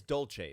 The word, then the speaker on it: Dolce: Well, it is Dolce. That is how you say it. Yeah. C-E in Italian is a ch.